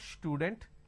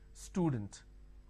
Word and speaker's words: student: For example, if I have the word which is student, a lot of people make a mistake and they pronounce this with a sh. Student. It's not student, it is student.